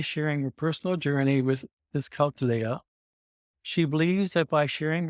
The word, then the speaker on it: dyscalculia: But Kris has grown, developed her skills and refuses to let dyscalculia define her. How is that pronounced? Kris Conlin: Dyscalculia. Greg O'Grady: Dyscalculia. Okay. Kris Conlin: I always think about it like "dyscalculator."